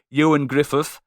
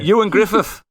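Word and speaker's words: Ioan Gruffudd: happy-go-lucky Fantastic Four, starring Ewan Griffith, Michael Chiklis. No one knows how to say his name. Ewan Griffith. Owen Grifford. Is that how you say it? Yeah. Ewan Griffith. Close enough. The Welsh one.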